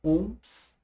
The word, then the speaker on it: ohm: 50 ohms. Isso aqui se pronuncia assim, tá? Ohm.